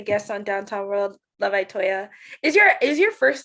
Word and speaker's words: Itoya: Itoya. Yes. Love Itoya. So I say it like E, even though it's I.